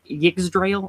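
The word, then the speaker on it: Yggdrasil: or the binding tree giggs drail i think is how you say it yes the y letter often being more like a a so yes and um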